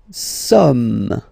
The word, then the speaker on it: sommes: Nous sommes, okay? Nous sommes, okay? So you don't pronounce the final S here. It doesn't exist.